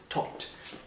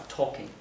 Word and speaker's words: talk: Le L ne se prononce pas talking.